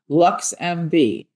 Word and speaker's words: LXMV: LXMV, pronounced LuxMV, is Chicago's first ever